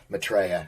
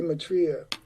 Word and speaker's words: Maitreya: pronounced my last name my natural inclination as American is to say matria okay but in England excuse me in Europe the uh Mai is obviously emphasizes my trail so I'm happy to